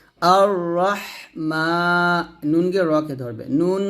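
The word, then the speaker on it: الرحمن: জন্য যিনি জগৎসমূহের রব তারপর আর রাহ এখানে দেখুন আলিফের জবর জের পেশ কিছু নাই তো এরকম থাকতে পারে আয়াতের শুরুতে আলিফের উপর জবর জের পেশ কিছু থাকবে না তো এরকম যদি পান আর যদি পরের হরফ লাম পান তাহলে আলিফের উপর জবর দিয়ে পড়বেন হামজাহ র জবর আর এরকম র হা জবর রহ রহ বাতাস বের করবেন আর রহ মিম খারা জবর মা এক দিবেন আর রহমান নুনকে রকে ধরবে নুন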